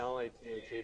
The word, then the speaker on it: lath: Yeah, L-A-T-H-E, but it's pronounced lath.